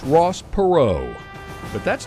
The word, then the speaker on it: Perot: Ross perau but that's not how his daddy pronounced the name pero cornrow cotton r p just so you get your pronunciation right the Naval Academy would later Rebrand the family name for Ross Jr to the proper French pronunciation of perau but that would never